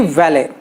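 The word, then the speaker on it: valet: था फ्रेंच लोगों से, ये एक फ्रेंच वर्ड है वैले, तो इसलिए अब फ्रेंच लोगों की तरह उन्होंने ट कट कर दिया और उन्होंने वैले कर दिया।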